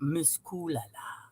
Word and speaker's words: Miss Kulala: Okay, so that I wanted to emphasize how to say it. You got to say it like that, Miss Kulala.